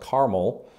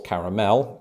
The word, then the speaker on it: caramel: But the options with two syllables, like caramel, with three syllables, caramel, just as I did there.